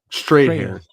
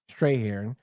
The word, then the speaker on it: Strathairn: I always get his name wrong. Strahan. Strahan.